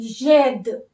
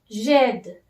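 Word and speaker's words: j'aide: vowel, you have to omit this E and you have to use this apostrophe sign and AIDE, jed. Now the pronunciation will be jed.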